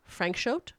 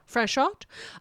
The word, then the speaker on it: Franchot: He's French. It's Franchot. Frank Shout. Franchot.